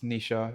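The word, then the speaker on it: Nischa: But not spelled like how we would spell Nisha. It's like N I S C H E or something like that. Yeah. It's not N I S. No, it's C H.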